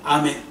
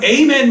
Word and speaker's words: 아멘: 바로 영어 단어의 아이에요 아멘 물론 또 영어 발음을 에이멘 뭐 이렇게 하잖아요 근데 어쨌든 아멘 우리가